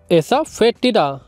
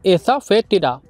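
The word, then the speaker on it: asafoetida: Friend इसकी spelling आप सही से देखिए, एसाफेटिडा, इसमें ओ को हम रीड नहीं करेंगे, इसे हम बोलेंगे एसाफेटिडा। आप इसको ऐसे समझिए कि इसमें एफ के बाद ओ है ही नहीं, हम इसको एसाफेटिडा पढ़ेंगे,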